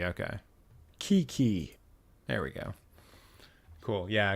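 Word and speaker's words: Keke: to pronounce Kiki. Oh, it's Kiki. Okay. Kiki.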